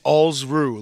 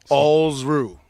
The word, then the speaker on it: Alsruhe: It's Alsruhe, like balls without the B and kangaroo without the kanga. Alsruhe.